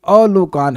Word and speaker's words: अलोकान: आ नहीं अलोकान है। बहुत बड़ी मिस्टेक हो गई है। अन्वय में स्पेलिंग देखिए अलोकान शब्द है ये। प्लीज इसको यहां ध्यान से सुनिएगा। अ नहीं है। आ नहीं है अ है। अ मतलब जहां पे लोक अर्थात आलोक नहीं है। यह स्पेलिंग मिस्टेक है। ध्यान रखिएगा। अ ग्रहण कीजिएगा।